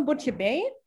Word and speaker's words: Buttjebeyy: Le nom Buttjebeyy, c'est comme ça qu'il se prononce, c'était le nom de notre fille, ou